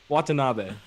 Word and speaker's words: Watanabe: wrong so many times give it a go watanabe you got it yeah i don't even need